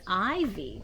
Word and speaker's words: ivy: not an eye board it's ivy it's a special kind of a leaf called ivy you hear that I the I says its name when it's a long I sound IV all right what